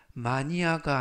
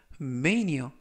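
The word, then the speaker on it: mania: 라고 발음 하시면 되겠구요 이때 발음의 유의하실 점은 마니아가 아니라 메인 이어 라고 발음 하시면 좋겠습니다 품사는 명사 뜻은 열광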